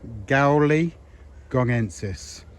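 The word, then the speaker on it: gaoligongensis: So I would pronounce this collocacia gowi gongensis.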